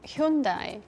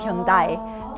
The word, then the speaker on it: Hyundai: right so that's why never got marketed as hund it got marketed as Hundai to make it sound like Japanese you're so cool and it's interesting because Japan doesn't pronounce it that way at all pronounce the Korean way true was fun I'm